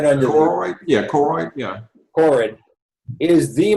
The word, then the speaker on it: choroid: In fact, the back of the eye is called the carotid. Dr. Carter, did I pronounce it right? Hey, what now? The vascular part of the eye, right under Choroid?